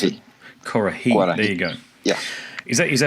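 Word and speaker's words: Kuarahy: Is that how I pronounce it? Kurahei.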